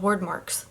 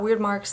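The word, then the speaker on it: wyrdmarks: the word marks which apparently they're called word marks not weird marks not wired marks I saw like a pronunciation guide yesterday on Pinterest and apparently it's W uh word marks so word marks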